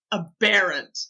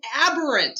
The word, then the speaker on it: aberrant: using the word aberrant you know a barrant and I was like it's aberrant you well the European pronunciation is aberrant American pronunciation is aberrant